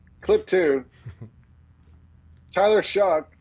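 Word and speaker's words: Shough: Tyler Shuck. If you don't know how to pronounce his name, just think the F-word and then add sh in front.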